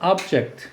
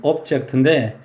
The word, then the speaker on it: object: 자, 얘는 미국식 발음은 object, 영국식 발음은 object인데 명사로 사물이나 물체란 뜻 많이 있고요.